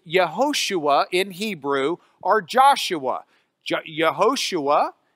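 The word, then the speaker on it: יהושע: in Hebrew or Joshua yehoshua is the way we would pronounce that Hebrew name the yah part means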